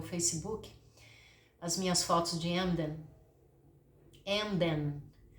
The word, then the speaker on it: Emden: O alemão é engraçado porque ele fala, todas as sílabas têm que ser muito bem pronunciadas. O M é M e o N é N. Então você tem que falar Emden.